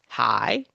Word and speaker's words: high: So, as it says here in this title, these other words, in these other words, the GH is silent. High, sigh, though, through, although, though.